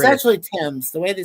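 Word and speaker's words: Thames: Tames. I always thought it was ths when I was a kid, but it is Tames. The H is silent in British. BBC BBC TV. Well, it's actually Tim's.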